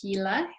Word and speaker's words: Gila: In your county, it's about, I just learned how to pronounce it, Gila.